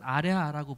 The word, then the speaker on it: 아래아: 점을 찍죠 점 그래서에 이거는 아래 아라고 부릅니다 그래서 아래아 짜는 어 오와 아의 중간 발음입니다 오아 오와 아는 둘